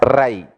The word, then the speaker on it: Rai: You should pronounce as Rai, riches.